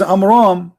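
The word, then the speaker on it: Amram: the name because Mohammed he could not even pronounce it correctly so the correct name is AMRAAM and guess what there's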